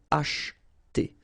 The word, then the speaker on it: acheter: Alright, so don't pronounce this here. Élever, élever. Acheter. Same thing here, we don't insist on this so acheter, acheter.